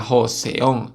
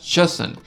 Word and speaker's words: Joseon: se Llamar a Corea se escribe joseon pero no se pronuncia joseon se pronuncia joson y la única forma